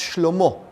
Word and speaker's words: Shlomo: His son, Solomon, which in Hebrew is pronounced Shlomo, which means peace.